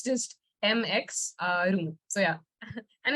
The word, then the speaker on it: Mx: is MX pronounced so it is MX it's not mix if you say mix